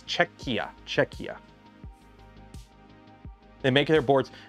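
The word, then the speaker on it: Czechia: I got to keep I always pronounce it chetch. It's cheekia.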